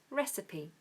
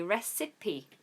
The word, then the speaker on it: recipe: p e recipe and it said sorry with a SCH sorry when I break it down it makes it hard for me to pronounce as well with awah for the I so it's re recipe recipe and what people do is the mistake I just made is say recipe cuz it's got I in the middle but